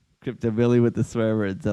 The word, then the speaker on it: Crypto: Uh, that's how you pronounce Alexa krypto. Alex krypto. Creep. It's creep. You got to you got to roll that R.